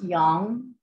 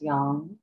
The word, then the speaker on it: yam: thumb the sound is it's spelled y-a-m um pronounce yang or yum whatever feels best for you traditionally it's pronounced young your that ya that y begins with the soft palate right so it